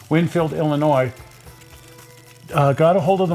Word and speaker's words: Illinois: Hobbies in Winfield, Illinois, I shouldn't pronounce the S, Winfield, Illinois, got a hold of